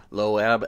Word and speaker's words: Loab: read the Bible and the word Moab is a it's a an ancient group The moabites m-o-a-b and so lowab l-o-a-b that's how I I this is how I pronounce it uh anyway so loab